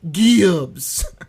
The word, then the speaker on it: Gibbs: I I think I always said it that way to be funny, but it's got to be said Gibbs. That's how we got to pronounce it from now on.